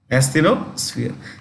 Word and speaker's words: asthenosphere: Asthenosphere. It's a gummy layer. It's a semi-liquid layer. Asthenosphere. When you pronounce this, it is SF, not SP, SF.